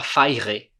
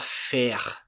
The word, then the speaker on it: faire: Esse E, aqui a gente não fala faire. A gente fala faire. E o último som que eu pronuncio não é do E, é do R.